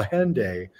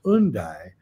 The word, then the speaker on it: Hendaye: town that it's in which i we call hende is actually pronounced undy but if you pronounce it in british english